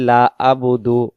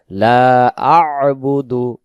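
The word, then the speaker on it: لَا أَعْبُدُ: পারে আমরা যদি বলি লাবুদু লাবুদু অনেকে বলি লাবুদু তখন হবে লাম জবর লা বা পেশবু দাল পেশ দু লাবুদু তখন এই আইন অক্ষরটা এখানে ছুটে চলে যাবে এখানে উচ্চারণ হবে লা আবুদু লা আবুদু লা আবুদু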